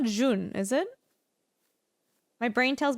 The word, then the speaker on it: jaune: It's pronounced jaune.